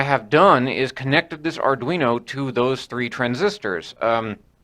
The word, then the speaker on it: Arduino: little tiny Arduino I think that's how it's pronounced Arduino uh this is a Uno I found it